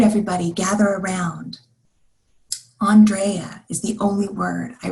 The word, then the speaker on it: Andrea: It's spelled like Andrea, she says, but pronounced differently. Andrea.